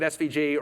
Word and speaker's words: SVG: And then it generates, yes, I know I say asvig, I know I pronounce it svig, everyone else pronounces it svg. It's me, I'm wrong, I can't correct myself, I'm sorry. Keep saying it svg, or people will make